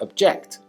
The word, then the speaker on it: object: used as a verb it is pronounced object with stress falling on the second syllable object means to express disagreement